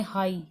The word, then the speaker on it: high: अगर मैं कुछ आई वाले वर्ड देखती हूँ, जैसे मान लो लिख दिया मैंने हाई, HIGH, यहाँ पर ये दोनों साइलेंट है, मैं इसको बोलती हूँ हाई।